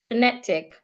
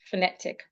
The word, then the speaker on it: phonetic: Phonetic. The schwa is also on the first syllable. Phonetic.